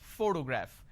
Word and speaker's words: photograph: When I pronounce this particular word, photograph, the correct pronunciation is photograph, which means I am stressing on this particular syllable, which is the first syllable.